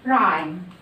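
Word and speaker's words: rhyme: لو جت الكلمة أولها R H مش بنطق ال H، بنطق ال R بس. زي كلمة إيه؟ زي كلمة رايم. رايم يعني قافية أو بيت الشعر، القافية بتاعت الشعر أو بيت الشعر بنسميه بالإنجلش رايم. هنا أنا عملت إيه؟ ما نطقتش ال H، قلت رايم.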